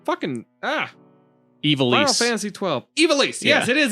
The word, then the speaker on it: Ivalice: Ivalice! Yeah. Yes, it is Ivalice.